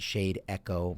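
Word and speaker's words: Shadeco: you can pronounce it shade echo but it's the word shade and the word echo i'll clump together um and what shadyco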